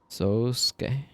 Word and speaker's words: Sosuke: If you're giving that a Japanese pronunciation, that would be a long O. Yeah, sometimes would write it with a bar over the O. Sosuke. The U from the Su tends to get dropped.